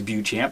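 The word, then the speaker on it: Beauchamp: a guy named george buchamp i think his name is buchamp that's how we pronounce it anyway he was uh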